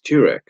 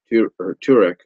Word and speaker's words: Tirek: Because the other big news that came out for season 8 was Tirek, Turek. I think that's how you pronounce his name, Tirek, Lord Tirek, if you will.